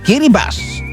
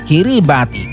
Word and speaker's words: Kiribati: At bago kayo mag-correct ng pronunciation, hindi raw ito binibigkas na kiribati. Ang tamang bigkas ay kiribas. Sa wikang kiribas kasi ang kombinasyong T ay binibikas na parang S.